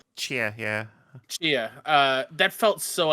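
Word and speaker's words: Tchia: Because that one trailer for, I believe you say the name Tachia. Yeah, is how you say that name. Chia, yeah.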